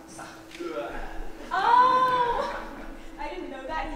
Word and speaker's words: Sartre: My name is pronounced Sartre.